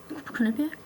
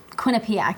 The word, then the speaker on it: Quinnipiac: I mean, they just went and they killed um Quinnipiac. Quinnipic. Yes. I always forget how to pronounce it, but they just went and go and went and killed them.